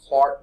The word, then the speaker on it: Clerk: grow your madman mathematical physicists Scottish gardening James Clark Maxwell though his middle name is spell CL the art a clerk the Scottish pronounce things however they wanted not they really